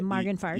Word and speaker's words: Morganford: I think it's pronounced in South St. Louis as Morganford. You got to use the accent.